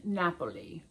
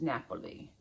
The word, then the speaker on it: Napoli: Um, and it in Italian it's Napoli. Naples is Napoli.